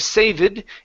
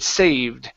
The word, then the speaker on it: saved: lesson eater okay good and we'll do one more here this is saved her a seat so right here instead of saving it saved saved her a seat